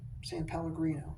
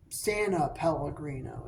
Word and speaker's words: San Pellegrino: San Pellegrino. That's how you pronounce it. Yeah. I always want to put an extra Santa Pellegrino. It's not. It's San Pellegrino.